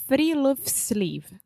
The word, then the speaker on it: friluftsliv: Alexia, do you want to take a guess at how to pronounce this? We already know because we were practicing. So give it to me. It's Friluftsliv.